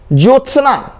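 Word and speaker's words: ज्योत्स्ना: ज्योत्सना, अब देखिए जो फिर त फिर लगता है पूरा स है, जबकि स आधा होता है, ये ज्योत्सना, आधा त भी होता है, आधा स भी होता है, ज्योत्सना बोलते हैं।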